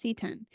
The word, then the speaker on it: seton: s t o n but I thing is pronounced setan so seon weird now because we can't practice